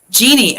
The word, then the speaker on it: Janine: Jeannie, oh, nice. Oh, that's amazing. Oh, that's cool. Her name is spelled Janine.